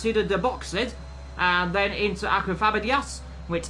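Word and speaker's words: Subida dos Boxes: into 14, which is, I believe it's pronounced Suda de Boxed, and then into Aquafabadias, which is the last real corner on this circuit.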